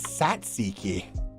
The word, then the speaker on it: tzatziki: Pronounce. Oh, it's Satsiki.